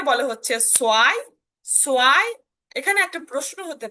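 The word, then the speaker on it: zwei: সো এটার উচ্চারণটা কিন্তু সোয়াই, সোয়াই, সোয়াই, অর্থাৎ একটু ভ থাকলেও ভটাকে আমরা পূর্ণাঙ্গ ভাবে উচ্চারণ করব না, যার কারণে আপনি সোয়াইটাই উচ্চারণ করবেন, সোয়াই। অর্থাৎ সেট ডাব্লু, অর্থাৎ সেট এবং ভে যদি দেখেন তখন তার উচ্চারণটা সো আকারে উচ্চারণ করবেন, কোনো প্রবলেম নেই, সোয়াই।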